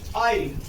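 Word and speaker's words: isle: यदि किसी स्पेलिंग में एस दो लेटर आई और एल के बीच आए तो प्रायः एस साइलेंट हो जाता है, एस का उच्चारण नहीं होता है। For example eyelet, eyelet, आइल।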